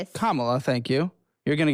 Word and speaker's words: Kamala: There was once upon a time when Camala came out with Kamala. Thank you. You're going to get pronounce it right.